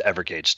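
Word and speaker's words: Evergage: continuous engagement you ever EVR and it's just ever gauge calm and we'd love to talk to you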